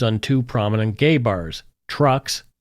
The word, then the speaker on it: Truxx: On October 22, 1977, Montreal police conducted raids on two prominent gay bars, Trucks, that's spelled Truxx, and Le Mystique, located in the city's gay village.